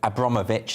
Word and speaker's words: Abramovich: he does you know abramovich that's how you pronounce this abramovich does indeed deny these